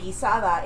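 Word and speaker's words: guisado: it's a different kind of broth but it's pronounced the same way with a GU i s o gizo and gisada is g u i s a d a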